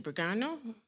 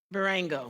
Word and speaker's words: Berengo: Bergano? Adriana in Barango.